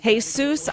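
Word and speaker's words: Jesús: it like it's hot hey Seuss my pronounces hey soos ah de ley de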